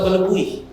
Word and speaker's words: Balubuh: Di Balubuh, ya Balubuh bacanya, atau Balubui, ikan rabui.